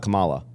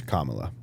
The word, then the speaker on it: Kamala: So it's not Kamala. I don't know. It's Kamala. It's like common Allah.